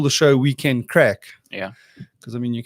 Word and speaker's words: craic: if anyone yeah so now crack is spelled CR AIC yeah and it's actually Irish I was I was